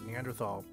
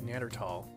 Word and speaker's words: Neanderthal: your lectures you use neanderthal i've always heard it as neanderthal is it a preference a preference and there's no h sound when it's pronounced in french and german is something that i